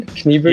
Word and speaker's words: Kniebűgl: Did I pronounce your name right? Kniebűgl?